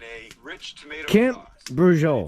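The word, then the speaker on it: braciole: Brujol. Not quite how it would sound Brujol. phonetically, because it's B-R-A-C-I-O-L-E.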